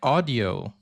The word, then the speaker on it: Audi: And that's so Audi means listen like audio. So that's why we say Audi because it's audio and we just remove the O.